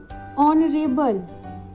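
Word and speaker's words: honourable: ऑनरेबल, honest, honesty, ये जो words हैं इनका फर्स्ट लेटर एच है। अगर हम देखें तो HO, इन सब में HO आ रहा है, जिसको हम प्रोनाउंस करते समय बोलते हैं ऑनरेबल, ऑनेस्ट, ऑनेस्टी, ओ। तो इसका प्रोनाउंसिएशन कौन सा साउंड दे रहा है?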